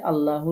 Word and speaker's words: আল্লাহ: তো আমরা দেখছি যে এই আল্লাহ শব্দের এই লামের আগে যদি জবর থাকে অথবা পেশ থাকে মোটা করে পড়তে হবে মোটা করে পড়তে হবে মানে ল পড়তে হবে তাহলে এবার খেয়াল করেন এখানে আমরা বাংলায় আমাদের বইতে আল্লাহু লেখা থাকে কিন্তু এটাকে যখন আপনি তাসবিদের এই নিয়মটা এপ্লাই করবেন সঠিক করে যখন আপনি পড়তে যাবেন তখন আল্লাহ পড়া যাবে না তখন আপনাকে পড়তে